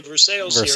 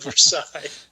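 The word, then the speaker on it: Versailles: think rippy ripey and instead of verses because we say verses here in Kentucky she said versail.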